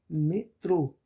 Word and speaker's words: metrô: Por exemplo, metrô, metrô. Qual a sílaba mais forte? Trô, metrô.